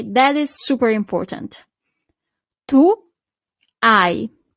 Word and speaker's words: hai: Tu, hai. So you don't really pronounce the H at the beginning.